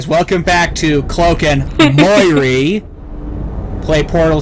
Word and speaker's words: Moirrey: Moirrey.